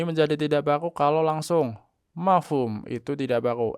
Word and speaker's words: mafhum: Kalau langsung mafhum itu tidak baku. M a f u m itu tidak baku. Harus ada h-nya.